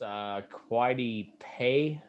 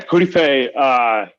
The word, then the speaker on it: Kwity Paye: Quidey Pay, something like that. Yeah, Kwity Paye. How do you say it? Kwity, I think.